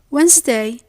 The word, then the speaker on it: Wednesday: We mentioned before that the D is silent in some English words. Yes, definitely. It's in words like handkerchief, handsome, Wednesday, and sandwich.